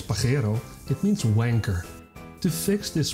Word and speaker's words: Pajero: In Spanish slang, Pajero, pronounced as Pajero, it means wanker.